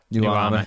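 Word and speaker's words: Nuamah: Nuama is how you pronounce it.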